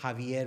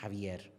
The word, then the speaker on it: Javier: शेरगिल, वो सब उसको हावियर बुलाते थे. हावियर, हावियर, इधर आ हावियर, because that's a Hispanic name, Javier. Written Javier, Xavier, but pronounced Javier.